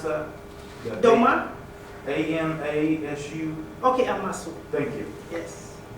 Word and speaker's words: Amasu: How do you pronounce that? Dromaa? AMASU?